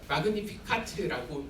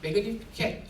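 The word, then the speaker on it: Magnificat: 마그니피카트라고 부르는데 영어는 조금 매그니피켓 이렇게 발음을 해요.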